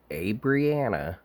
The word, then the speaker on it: Abrianna: And this is Mackenzie, a longtime friend of Abrianna, is how you say it.